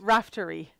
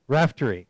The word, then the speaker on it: Raftery: Did I pronounce that quite? Or? Almost. Almost. Raftery. Raftery.